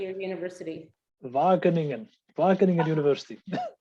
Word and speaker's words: Wageningen: Wageningen University. Wageningen University, thank you.